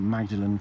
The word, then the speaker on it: Magdalen: uh he talked about magdalen college which of course is pronounced more than college how do you know